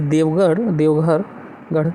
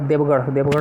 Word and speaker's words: देवगढ़: देवघर what is देवघर I don't think it's देवघर इट इज देवगढ़ आम कहूँ ताकू ना